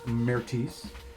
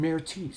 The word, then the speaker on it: Mertis: I gotta ask though, Mertis, that's Mertis, right? Yeah. That's how you spell that? Yeah. So it's Mertis. It's Mertis. It's French. Well, yeah, but it's spelled Mertis.